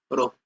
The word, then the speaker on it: rho: रो से डिनोट करते हैं, रो, ROW, रो, RHO, रो, सॉरी RHO, रो, इसको प्रोनाउंस करते हैं।